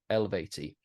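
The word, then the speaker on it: Eluveitie: And no, to her credit, she went, yeah, you take out the U, Eluvati. I swear I've heard members of that band pronounce it differently.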